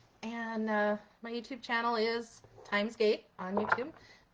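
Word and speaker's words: Thymesgate: And my YouTube channel is Timesgate on YouTube. Time is spelled like the herb, T-H-Y-M-E-S.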